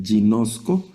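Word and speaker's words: γινώσκω: Observen aquí lo que acabamos de conversar de la gama. Eh, tiene el sonido de i y entonces la vamos a pronunciar jinosco y es del verbo conocer.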